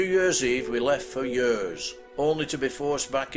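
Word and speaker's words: Hyères: On the 3rd of January we set off for Yers, which incidentally is spelt Hyres.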